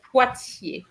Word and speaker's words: Poitiers: PY gives you Pie. what sound? Pie? Like a pie? No, Think not pie. again, Giovanni. Not pie.